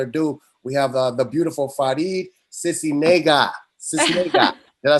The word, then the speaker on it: Faride Sisniega: And without no further ado, we have the beautiful Faride Sisniega.